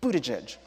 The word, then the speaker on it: Buttigieg: I find interesting as a bomb mayor Pete Buddha judge I whipped around so hard one because we pronounced his name correctly is that and then